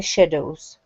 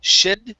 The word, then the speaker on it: shadows: Then he heard the shadows Okay Very good All right Let's uh let's try that last word there Instead of shed shadows this is an a sound It's sha Shadows Shadows Shadows Okay Very